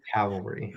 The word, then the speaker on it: cavalry: No, cavalry.